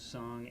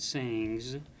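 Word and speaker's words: སངས: So song, the first syllable of the word Buddha, is represented by S-A-N-G-S. So it's not sayings, which is what it looks like.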